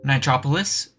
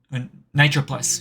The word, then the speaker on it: Nitroplus: Nitropolis? Nitroplus. Shh, I didn't pronounce that wrong.